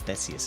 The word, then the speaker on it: Theseus: I said Theseus, but it's Theseus, isn't it? Sometimes my pronunciation is bullshit.